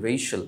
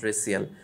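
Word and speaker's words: racial: রেস মানে কি বর্ণ বা জাত, সেখান থেকে রেশিয়াল উচ্চারণ, নট রেসিয়াল।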